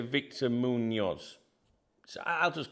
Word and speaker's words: Víctor: In Spanish, they would pronounce it Víctor, because the V is like a B, so it'd be like Víctor Muñoz, because some like the Z, it depends. It's like a regional thing.